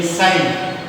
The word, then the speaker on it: sin: It is actually sine, but we write it as sin theta. Theta is an angle, and we pronounce it as sine theta.